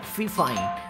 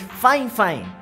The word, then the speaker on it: FIFINE: a m6 y chicos la marca no se pronuncia F fine es fine fine O al menos así